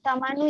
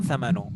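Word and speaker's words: ثَمَن: Jadi kam tamanu ya Ustaz. Ini bacanya kam thamanu, betul.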